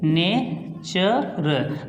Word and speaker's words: nature: तो जो लास्ट में, जैसे हमने एक और लिख दिया यहाँ पे NATURE, देखिए, तो इसको बोलेंगे नेचर।